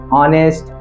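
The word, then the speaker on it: honest: जैसे आपने सुना होगा ऑनेस्ट आवर ऑनर ये सब क्या है ऐसे वर्ड्स हैं जिनके शुरुआत में एच आता है और एच साइलेंट होता है जैसे यहां पर मैंने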